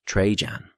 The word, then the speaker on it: Trajan: Trajan, pronounced Trejan.